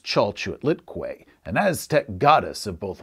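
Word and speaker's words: Chalchiuhtlicue: chao chiliqui ciao say some unpronounceable word it's pronounced chalchute litquay an aztec goddess of both water and fertility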